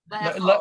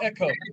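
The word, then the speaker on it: לאכול: Le'echol. Le'eko. Le'eko. Le'ekol. Yeah, it's 3 syllables. Le'echol. Le'eko. Le'eko. Not ko. Is it ho rather than ko?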